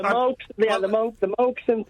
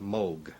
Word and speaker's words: Moog: Uh, in Germany, it's a fairly common name and there it's pronounced Moog.